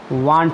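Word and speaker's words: won't: और एक शब्द है बिल नॉट, बिल नॉट का विलेंट नहीं होता है, वांट होता है, WON एपोस्ट्रॉफी टी, इतना ध्यान देना।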